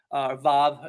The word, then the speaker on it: vav: It's called the vav. Vav, if you want to get more pronunciation correct.